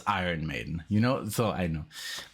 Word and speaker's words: Iron Maiden: up and say hey do you like iren maiden i would be like ah it's iron maiden you know so i